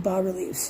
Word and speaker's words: bas-relief: not expecting to have bas-reliefs, to be honest, but, gorgeous details like this. Wow. Truly gorgeous. And as I said, it's called a bas-relief. The S is silent in the word bas.